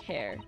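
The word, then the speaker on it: Herr: this exciting London publication her is German for Mister it's pronounced like hair gotcha got hair hair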